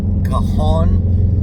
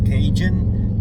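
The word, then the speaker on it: Cajon: The next one's going to be Kahon. Uh, a lot of people pronounce that kajun, but um, that's a completely different part of the country or different type of food.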